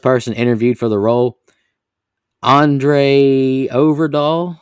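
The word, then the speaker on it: André Øvredal: interviewed for the role andre overdoll i guess is how you say it because it's got the o with the slash through it said they performed further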